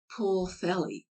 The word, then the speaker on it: Pwllheli: The seemingly impossible Pwllheli is rendered Pwllheli.